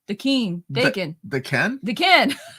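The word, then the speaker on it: Daken: Dakin.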